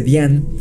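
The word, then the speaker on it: Dzyan: libro de depp xian que yo pronunciaba decian que investigando para esto descubrí que su pronunciación correcta es bien es decir la zeta no suena en esta palabra así que vean todos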